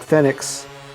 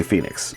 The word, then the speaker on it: Fennix: I know it looks like Fenix, but that doesn't feel right to say. So I'm just going to say Phoenix.